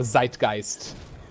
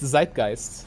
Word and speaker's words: Zeitgeist: word at this point i love how you try to pronounce it in an english way even though you perfectly know the german pronunciation for that i'm talking english so it's zeitgeist yeah okay you could say zeitgeist though ah that's german i'm calling the